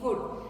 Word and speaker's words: would: और जो करना है, I would have done, that is W-O-U-L-D wood.